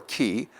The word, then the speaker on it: chi: Chi or ki will be pronounced approximately to the CH in Bach, Bach.